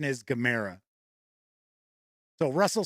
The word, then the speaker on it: Gamera: asks I know in the U.S everybody says Gamera but the corre correct pronunciation is Gamera so Russell says this is a 120 millimeter